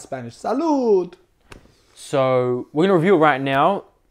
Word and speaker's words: Salud: Pronounced SALUD in English, which is like cheers. In Spanish, I believe.